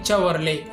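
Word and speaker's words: Chevrolet: அடுத்த company செவர்லே. இதையும் நம்ம தப்பாக ப்ரொனவுன்ஸ் பண்ணிட்டு வராங்க.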